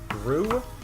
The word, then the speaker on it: roux: Roux? Not quite. Roux. That. It's a French word. I mean, I may be not pronouncing it correctly, but that's just how it's said here in these states.